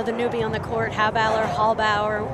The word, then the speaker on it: Halbauer: You know, and we look at, you know, the newbie on the court, Hauballer. I think I'm going to change how I say her name to Hauballer right now.